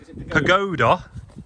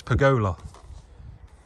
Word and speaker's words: pergola: No, they've been moaning at us, Dad, for saying pagoda, even though they should know by now. We use the D&J dictionary. They've been saying we've been saying it wrong. It's pergola.